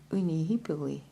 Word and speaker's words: unihipili: Unihippoly is pronounced Unihipili. Unihipili.